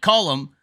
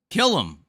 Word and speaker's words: Callum: what the hell how do you say this name guy kill him like like like killer like kill him I